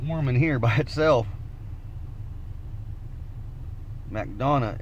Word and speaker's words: McDonough: in here by itself McDonough is how you say it oh yeah Mac Donna Georgia oh that's cool that's